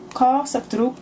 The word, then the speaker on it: Kaw Saik Jrouk: So Kaw Saik Jrouk is how you say the name. That's the closest I can get.